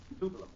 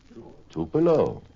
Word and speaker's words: Tupelo: And at noon, we stopped in Tupello, Mississippi for lunch. Do I pronounce that correctly, Janette? Is it Tupelo? Tupelo. Tupelo.